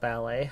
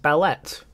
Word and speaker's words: ballet: have a question about ballet how come it's not pronounced Belet um that's an excellent